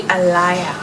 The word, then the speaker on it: Alaïa: That looks different than how it's said, I think. I don't know, maybe not, but that's probably something that could be confusing to say if you have never had to pronounce it or come in contact with it. So it's actually Alaïa.